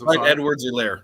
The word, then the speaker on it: Clyde Edwards-Helaire: Clyde Edwards-Helaire, yeah.